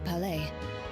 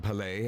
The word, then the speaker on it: Palais: to stay inside the palais. It's very safe in there. So there's no I in Palais then. There's no S, sorry. The S is silent.